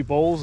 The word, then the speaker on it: boll: we'll start to see bolls out here. And that boll, B-O-L-L, not B-O-W-L. I've had people try to correct me on that before, that it's spelt cereal bowl. No, it's cotton boll, B-O-L-L.